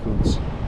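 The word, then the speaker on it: Coutts: I'm going through Coots. That's how you pronounce it.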